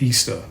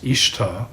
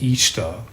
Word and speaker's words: Ishtar: the popular memes claims her name was not pronounced easter was actually pronounced more or less as it looks ishtar or perhaps each star she was not primarily